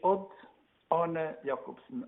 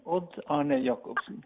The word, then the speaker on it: Odd-Arne Jacobsen: And you pronounce it Odd-Arne Jacobsen. Odd-Arne Jacobsen.